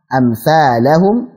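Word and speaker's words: أمثالهم: Amthalahum, badalna mad jaiz munfasil, 4 harakat. Amthalahum, jangan lupa ada alifnya situ sedikit kecil.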